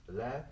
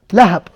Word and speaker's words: Lahab: So here, the example Lahab. What does it mean Lahab? Who knows the meaning of Lahab? No. What's the question? What's the question? What's the word? Lahab. Laugh? Lahab.